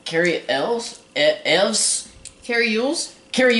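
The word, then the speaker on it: Elwes: The guy in Robin Hood, Carrie, how do you pronounce his last name? Carrie Elves? Evs? Carrie Yules? Carrie Yules, yeah, the guy who also played in Princess Bride.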